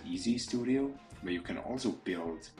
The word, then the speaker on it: EEZ Studio: a e e Studio I think to just pronounce it EZ Studio where you can also